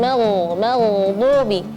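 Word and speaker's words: المغضوب: dengan alaihim ghairil magdubi makhraj huruf ghain perlu diperhatikan jaman jangan magdubi bukan mag ah dia mag jadi kalau seperti kalau kita huruf Huruf gin ini seperti kita kalau kumur-kumur g. Nah, di situ makhrajnya ghairil magdubi. Terus ada huruf dad ya. Ee dadd bukan dal, bukan du, tapi du ya. Suara dhad yang tebal.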